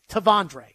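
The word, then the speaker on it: T'Vondre: There is no R. It's Tavondre. Is that not what we've been saying? Is it Tivondre? I don't think so. I think it's Tavondre.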